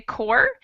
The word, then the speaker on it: corps: a happy word but the second word is pronounced without the p and the s we just say core and that would be